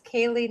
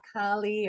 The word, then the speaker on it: Kaley: supporting only caregivers so Kaylee I want to welcome her and um please enjoy this pre-recorded video daily right and I'm not saying it incorrectly it's Kaylee not Kali or Cali you know my name